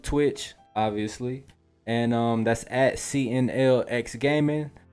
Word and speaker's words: CNLX: And that's at CNLX Gaming. The X is silent, so it's really CNL Gaming.